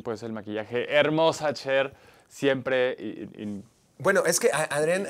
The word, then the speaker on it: Cher: Que, por cierto, el otro día dijo, lo acabo de pronunciar mal, no es Cher, dijo, es Cher.